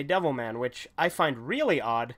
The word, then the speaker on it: Devilman: not very many but one or two that have insisted on pronouncing it deborah man and said that it's disrespectful to say devil man which I find really